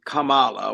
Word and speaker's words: Kamala: In fact, her name, that Kamala, like bull, the name is Kamala, which is the name of a Hindu goddess.